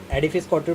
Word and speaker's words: Edifice Couture: हाँ, थोड़ा सा हो जाता है पर as this is pronounced as एडिफाई स्काउटर private limited.